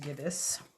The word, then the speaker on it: gibbous: a nice little tie-in okay so it is pronounced gibus the gibbous moon and apparently according to here it says